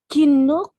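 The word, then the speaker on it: きのこ: Kinoko. Kinoko. Kinoko. Kinoko. Kinoko. Kinoko. Kinoko. Kinoko. Malapit na siya sa amin, Bisaya. Medyo magkalapit siya sa Ginoo ko.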